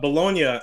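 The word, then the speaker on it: Bologna: bet on the show but bolognia and yeah balone it's spelled like baloney bolognia and KO both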